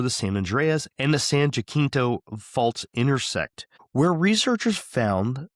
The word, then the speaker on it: San Jacinto: I'm pretty sure that's pronounced San Jacinto. Jacinto, huh? Because it's like the San Joaquin Valley.